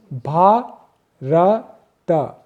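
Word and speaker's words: भारत: It has 3 syllables, Bha-ra-ta.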